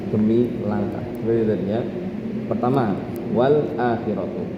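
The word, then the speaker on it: وَالْآخِرَةُ: Wal akhiratu lamnya dikasih harokat seperti harokat hamzah wala. Dan hamzahnya dihilangkan wala. Kemudian karena hamzahnya tadi dipanjangkan, lamnya jadi panjang. Wala khiratu, seperti itu. Dibacanya jadi wala khiratu.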